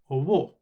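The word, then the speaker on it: を: is the or character is no longer pronounced war it used to be pronounced war but now it is or the object particle uh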